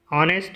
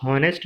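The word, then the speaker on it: honest: Same as इट इज़ ऑनेस्ट यहाँ पे दिया है तो ऑनेस्ट हम पढ़ते हैं, इसको हॉनेस्ट नहीं पढ़ते हैं क्योंकि यहाँ पर एच साइलेंट है, ऊपर भी एच साइलेंट था।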